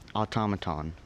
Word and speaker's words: automaton: could ring a bell automaton am I saying it correctly yes automaton a u t o m